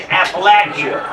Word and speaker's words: Appalachia: And that's how you say it, Appalachia. Like I was born in Appalachia.